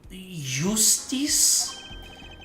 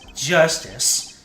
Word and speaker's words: Justice: All right, time to give Machi a talking to Apollo Yustice. That's justice. Better learn how to say it if you ever want to get some.